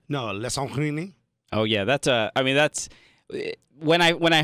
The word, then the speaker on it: Alessandrini: Alessandrini? No, Alessandrini.